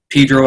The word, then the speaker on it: Pedro: Pedro, pronounced Pedro as opposed to San Pedro, the way that you could tell the townies from the out-of-towners.